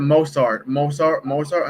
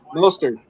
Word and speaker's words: Mostert: Mozart. How do you say his name? Mostert.